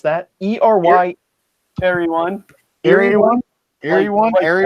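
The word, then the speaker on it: Eryone: How do you guys pronounce that? ERY. Airy one.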